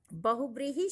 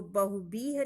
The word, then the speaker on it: बहुव्रीहि: अगला प्रश्न है बहुव्रीहि शब्द की शुद्ध वर्तनी वाला शब्द कौन सा है? बहुव्रीहि उच्चारण करते हैं तो बहुब्रीह नहीं करते, बहुव्रीहि नहीं करते, बहुव्रीहि।